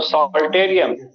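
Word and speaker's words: psalterium: दूसरा नाम है सॉल्टेरियम, पी साइलेंट है तो सॉल्टेरियम, और तीसरा नाम है लाइरा।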